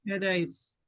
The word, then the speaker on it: pes: what did I say PES PES yeah long e is okay oh yeah um pace